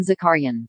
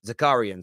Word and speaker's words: Zakharyan: how to pronounce earlier this is how they pronounce it arsene zakarian zakarian sorry zakarian is how it's pronounced um i get very